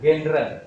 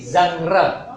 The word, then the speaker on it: genre: kurang lebih 10.000 kata bacanya bukan genre tapi zangre Zang zangre apa Zang